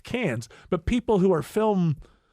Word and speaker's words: Cannes: like people who say cons Film Festival know its Cannes it's properly pronounced can but people who are